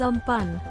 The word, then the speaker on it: Amphan: Amphan, pronounced as Amphan, means sky.